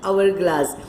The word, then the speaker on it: hourglass: Now see, here we don't say hourglass, it is hourglass. So HOUR, we says hourglass.